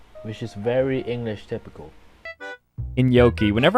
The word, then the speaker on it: gnocchi: Whenever I say this, you guys say I say it wrong, but it's gnocchi. So far, Wiktionary does not mention anything about pronouncing it like a gnocchi. The closest to his pronunciation is General American gnocchi. The term is derived from Italian, which is pronounced gnocchi.